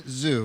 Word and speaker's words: Zhu: We've got Zhu. Am I saying it right? Yes, that is.